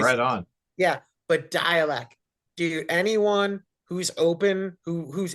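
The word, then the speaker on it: Dälek: Dalek, but with the umlaut, apparently it's pronounced dialect, like dialect.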